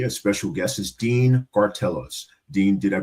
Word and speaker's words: Gartelos: With me today, a special guest is Dean Cartellos. Dean, did I pronounce that last name correct?